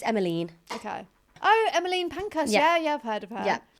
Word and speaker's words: Emmeline: I think it's Emmeline.